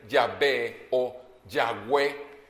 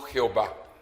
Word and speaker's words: Yahvé: Y decíamos que la pronunciación más clara o más correcta sería Yahvé o Yahweh. Sin embargo, en realidad el nombre es impronunciable porque es YHWH. Son 4 letras y son impronunciables. Pero el nombre más correcto en español sería Yahvé o Yahweh, no Jehová, por si quieres saber algún detalle.